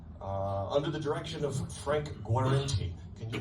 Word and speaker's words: Guarenti: band, the Georgians, under the direction of Frank Guarenti. Can you pronounce that one for me, Frederick? You did it? I did? Oh, good. Frank Guarenti, bringing home the bacon.